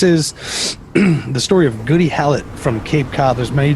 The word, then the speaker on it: Hallett: name but i'm just going to go with hallett instead of holly a spell h-a-l-l-e-t-t let's go with hallett hallett that's what i was thinking but this is the story of goody hallett from cape cod there's